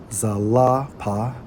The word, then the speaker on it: Zilpah: When we research Zilpah, who was identified as a concubine, Strong's H 2153, pronounced as Zalapa, right?